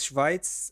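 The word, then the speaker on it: שווייץ: It's How do you say Switzerland in Hebrew? Switzerland is Schweiz. Sweden Oh, is Schwedia. Schweiz.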